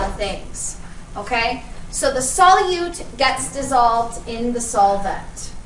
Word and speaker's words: solute: that the solute okay the U is a long u right solute that is the stuff